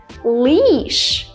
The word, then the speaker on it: leash: barely moving leash however if I want to say the word leash example if you have a dog you might walk your dog on a leash as you can see I'm smiling right my lips are very tense if you want me